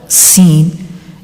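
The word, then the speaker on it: سين: okay like this scene seen is same like the previous letter za also seen is pronounced when the tip of the tongue touches the edge of lower two front teeth and lightly touches the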